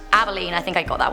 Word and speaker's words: Abilene: Abilene is pronounced Abilene.